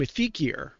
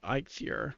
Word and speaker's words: Eikthyr: I'll just call it for a long time we called him a feekier because we just kind of read it real quick and didn't really pay attention to how it's you know pronounce but now it's actually I fear now you can see